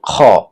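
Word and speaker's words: خاء: এরপরের অক্ষরটি খ। এই খ কণ্ঠনালীর শেষ থেকে উচ্চারণ করতে হবে, অর্থাৎ কণ্ঠনালী গলার শেষ থেকে উচ্চারণ করতে হবে।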